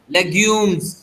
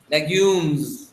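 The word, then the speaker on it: légumes: Legumes। जो लास्ट में आपको ज करना है, ज, ठीक है? Legumes। क्या बोलेंगे? Legumes।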